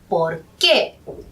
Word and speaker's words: por qué: de cuando usamos porque fíjense que la segunda palabra que tiene un tilde y por lo tanto el énfasis entonces se pronuncia por qué porque es más frecuentemente